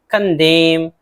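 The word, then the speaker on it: condemn: कंडेम, कंडेम एम के बाद एन है, एन नहीं पढ़ना है, मजम्मत करना।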